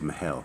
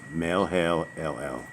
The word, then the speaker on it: Mahalalel: I don't think it's Mahel. Mahalo? Melhelel. So Melhelel. It's Melhelel.